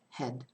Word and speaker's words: head: I'm being very self-conscious about how I pronounce it because I know that people think it's the same pronunciation, but it isn't. Had, as in a verb to have, and then head, which is this had, head.